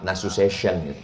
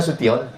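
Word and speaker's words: Nasution: Tulisan Tion itu membacanya mesti pakai huruf syin, ntional. Makanya ada orang menyebut yang terhormat Bapak Abdullah nasu session rupanya nasuion. Mohon maaf Pak Nasion.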